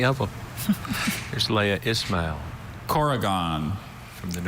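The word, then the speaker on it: korrigan: Corrigan.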